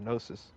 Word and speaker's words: gnosis: you can call it the gnosis yeah i think the g is silent but uh um was